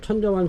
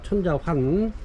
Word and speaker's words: 천자환: 7번 천자완 석곡 판매가 30,000원 드리겠습니다. 5포트 있고요. 제 발음이 천자완으로다가 들린다고 그래서 천자환입니다. 천자환.